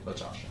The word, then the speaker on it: Latasha: Am I saying it correctly? Yes, Latasha. Latasha, okay.